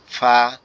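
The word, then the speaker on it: فاء: ফা অক্ষরটা হচ্ছে আমাদের উপরের দাঁত নিচের ঠোঁটের পেটের সঙ্গে লাগবে, লেগে হালকা বাতাস মতো বের হবে, বের হয়ে আওয়াজ হবে ফা, এরকম ফা, এরকম।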